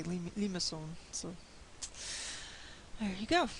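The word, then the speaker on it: limaçon: is a type of limousine it looks like lima khan but i've seen the pronunciation in the books say limasson so there you go it's a type of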